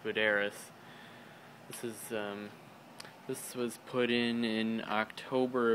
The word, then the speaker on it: Buderus: It's Buderus or Buderus. I don't know why I always call it Buderus, but that's what I called it, but I think it's pronounced Buderus.